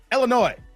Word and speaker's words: Illinois: so long come on the S is silent Illinois Larry's like you mad